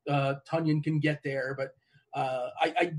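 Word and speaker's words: Tonyan: Tunyon. And the reason why we know his name is Tunyon, because somebody tweeted out it rhymes with Funyun, which, by the way,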